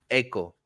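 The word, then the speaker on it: Eiko: her money uh a echo uh I I mispronouncing it saying Aiko but no it's Echo and is this little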